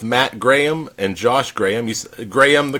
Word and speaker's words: Grayum: Grayum, the correct pronunciation? You got it. It's like the graham cracker, maybe a little bit like you're from the South, though, saying Grayum.